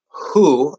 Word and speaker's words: who: It is just an H sound plus an oo sound, but it's a special word because it is a WH question word or question or statement word.